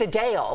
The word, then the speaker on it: Adele: name and I was Adele They Do It Adele Adele Adele it sounds like Adele but she means a Dale like Chippendale Adele Adele Adele no